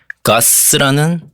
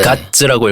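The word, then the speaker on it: GODS: 네, 제가 오늘 들고 온 곡은 이제 뉴진스가 참여한 가스라는 곡입니다. 네. 가츠라고 읽어야 되나요? 네.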